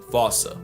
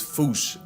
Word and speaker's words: fossa: But if you follow the Attenborough rule, Sir David would have had you saying Fossa. What if I told you both are technically wrong? Cause their name comes from the original Malagasy word, and apparently the correct way to say it is foosh, like foosh, with a performance anxiety at the end. Experts feel free to correct me, but apparently that is the closest to the OG Malagasy pronunciation.